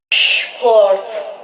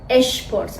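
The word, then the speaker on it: Sport: مثل شتول شترس یا شپورت شپورت شپورت شپاگتی شپس دقت کنید که اینها رو اش تلفظ نمیکنیم نمیگیم اشپاگتی اشترس اشپورت میگیمپورت شپاگتی یادتون باشه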